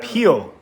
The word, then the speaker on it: Pihl: Pihl, like a banana. Pihl.